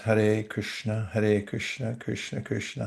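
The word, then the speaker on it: Hare Krishna: And this is pronounced har Krishna.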